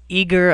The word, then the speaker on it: Aegir: We use a system called Eager. I've heard it pronounced 100 different ways, but it's A-E-G-I-R.